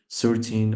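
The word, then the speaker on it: thirteen: How it's pronounced is like this: 13. You have to make it extend like 13, but 13 is 13. But when it comes to pronounce the 30, it's 30. It's not extended. Just it's like short sound, like it's not stand yet.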